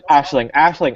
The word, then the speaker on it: Aisling: I got the Ashling. Okay, that's how you say it.